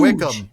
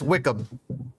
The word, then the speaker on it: Wycombe: Wickham? Are you talking about Wickham Wanderers? No, the third place Jones. team. Wickham. No, he was huge. His name was like It's not Wycombe. That's Wickham.